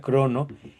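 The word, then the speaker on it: χρόνος: Se escribe así en en griego con todas esas letras, pero se pronuncia crono.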